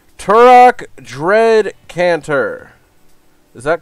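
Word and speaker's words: Tourach: see they're really killing it i hope i pronounced this right turok dread cantor is that correct come on autofocus there it is turak dread counter good job trevor said nice jade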